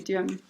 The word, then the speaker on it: Duhem: Is it, would it be Duhem? Duhem? Yeah. Okay, Duhem.